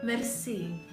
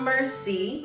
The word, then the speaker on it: merci: If I change my vocal range, does that count if I say merci? No, it is not mercy, no, but it is spelled closely to that. It is M-E-R-C-I.